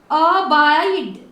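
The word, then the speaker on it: abide: करोगे उसको तो इसको अबाइड, ध्यान रखिए लास्ट में ई है ना, जब भी लास्ट में ई हो तो उसको साइलेंट रखिए, अबाइड।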